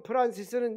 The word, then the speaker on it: 프란시스: 성 프란시스는 영어 발음이고 성 프란체스코는 이태리 발음입니다.